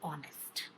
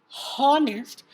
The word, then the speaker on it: honest: check the pronunciation of honest the pronunciation is not harnessed it is of honest which is like honest that is the sound of o and since since it's